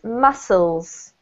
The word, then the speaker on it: muscles: This one here is, the C is not pronounced, Janine, so it's muscles. Muscles. Correct. It's exactly the same pronunciation as the food mussels, even though the spelling is Amy, different.